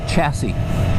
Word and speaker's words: chassis: But we say chassis in the United States. That's why it rhymes with classy.